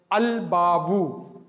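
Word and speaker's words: الباب: letter, for example, ba, then lam tarif will be pronounced, like al-babu, like this.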